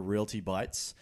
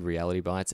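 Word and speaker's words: Realty Bites: is one of the well done for pronouncing that correctly by the way when we were talking about this I was reading an excerpt from the book and I accidentally said reality bites and did they write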